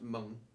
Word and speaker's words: Meng: And when Meng, I know they're pronounced Mung, but it's spelt Meng, so you know, I call it Meng.